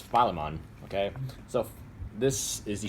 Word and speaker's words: Philemon: The actual way you pronounce his name is Philemon.